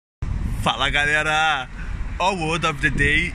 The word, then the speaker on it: galera: Galera, the stress in this word is not in the first syllable. Galera. It is not in the third syllable. Galera is in the second syllable.